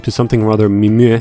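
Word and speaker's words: Mimieux: name to something rather mimir why is there an x at the end of it if you're not going to pronounce it frenchman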